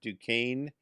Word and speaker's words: Duquesne: you see the word duquesne it's actually spelled d-u-q-u-e-s-n-e yes but it's pronounced duquesne it's gonna be french yes uh uh